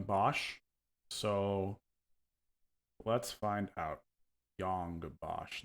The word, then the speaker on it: Yong Bosch: so let's find out Yong Bosch not young boss all right cool I'm